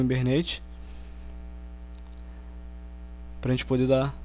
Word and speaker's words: Hibernate: Podem estar achando estranho falando Hibernate, mas a pronúncia correta é Hibernate.